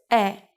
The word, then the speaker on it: 의: But when 의 is used as a particle, it is usually read as 에 because it's easier to say.